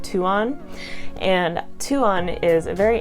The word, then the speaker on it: Tuon: moons, and I believe her name would be pronounced Tuon.